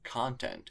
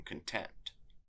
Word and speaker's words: content: For example, content is different from content.